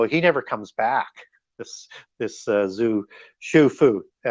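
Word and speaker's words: Xu Fu: And so he never comes back, this Zhu Fu. People looking for spelling on that, look at XU. And so it's pronounced Shufu, as if I've got that right.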